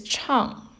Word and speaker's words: 唱: The pronunciation is 唱, 4th tone. It sounds very similar to what's on the right-hand side, which actually indicates the pronunciation. This character chang means to sing or chant.